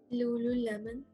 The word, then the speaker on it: lululemon: you'd be more interested in trying this one lululemon perfect so good um this next one i'm